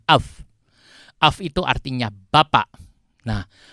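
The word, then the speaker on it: אב: Itu alef itu dengan bet kalau digambar, dijumlahkan jadi bacanya af.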